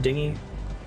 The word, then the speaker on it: dinghy: that's right dinghy slide so you pronounce that word dinghy took a boat ride